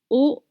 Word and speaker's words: aux: 9 € petit salé aux lentilles Petit salé aux lentilles. Petit salé aux lentilles. You turn right. Petit salé au lentill. You don't pronounce the X at the end of O.